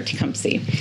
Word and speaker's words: Tecumseh: of them actually do know that how to pronounce tumpy and then I always like to explain why we are tumy and that we're named after the shaie Native